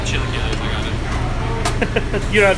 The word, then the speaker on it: chilaquiles: I'm not sure how you pronounce it. I'm probably gonna butcher it. Chilaquiles?